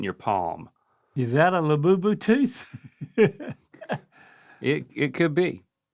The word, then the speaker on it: Labubu: This is a labubu. labubu? See, I wouldn't even going to say it like that till you said it. Y'all should have let me pronounce it. Yep. Labadee labubu labu labu labubu.